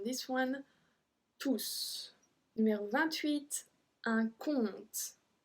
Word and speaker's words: compte: Numéro 28, un compte. Un compte. We don't pronounce the P.